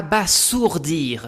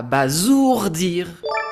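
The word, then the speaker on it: abasourdir: Numéro 3, j'entends souvent à bas sourdir mais regardez il n'y a qu'un seul s positionné entre deux voyelles. Dans ce cas, la bonne prononciation est donc à bazourdir.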